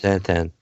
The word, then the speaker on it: xanthan: Water, potassium citrate, monohydrate, and that Xanthan gum or whatever, however you pronounce that. Xanthan.